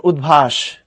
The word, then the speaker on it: উদ্ভাস: হ্যাঁ, পড়ার সময় উৎ পড়ি না, পড়ার সময় উদ পড়ি, উদ দ দিয়ে পড়ি। যেমন উদ্ভাস, উদ্ভাসের ধ আছে, এর উপসর্গ যদি ধরো সেটা কিন্তু উৎ।